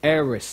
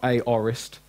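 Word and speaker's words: aorist: now now we got the arists tense okay eres that's how it's pronounced not a orest air is tense now this it basically means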